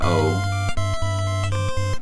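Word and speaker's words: を: That's an That's a Wo or an O. It's pronounced O, but it's the WO.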